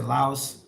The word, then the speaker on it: Laos: Philip Massey, hey Alex, are you really in Laos now? Yes, I am. I am here in Laos. Laos? So locals say Lao, English speakers say Laos, but I guess it's